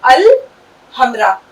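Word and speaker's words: الحمراء: इसलिए क़मारी में कोई भी ध्वनि मौन नहीं होगी। लाम की आवाज निकलेगी। तो यह ऐसा बन गया। हम यहां लाम की ध्वनि का उच्चारण अवश्य करेंगे। हम इसे 'अल' पढ़ेंगे। क़मारी में हम 'अल' पढ़ेंगे, और शम्सी में हम 'लाम' नहीं पढ़ेंगे। अतः, अल-हमरा; इसी प्रकार, यह एक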